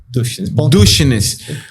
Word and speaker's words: Duschenes: @Dushnes. Dushnes se escreve assim, ó, pra vocês saberem.